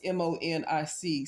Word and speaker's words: Monique: It's a channel called Henry and Monique, but it's spelled like Monique, like her name is Monic. So it looks like Henry and Monique, but it's Henry and Monique.